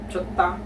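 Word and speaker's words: 좋다: So in this case, reading this as chot, jot, and then the word or the syllable da or ta. But most of the time, this is pronounced by Koreans as ta, chotta, chotta, ta, chotta.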